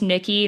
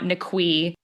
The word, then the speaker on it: Niqui: And it is pronounced Nikki, not Nqui.